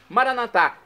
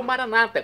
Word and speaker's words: Maranata: E agora eu clamo do aramaico, dialeto de Jesus, Maranatá, como dizemos nós católicos, ou Maranata, como dizem nossos irmãos separados das comunidades evangélicas ou protestantes. Não importa a pronúncia, o significado é o mesmo.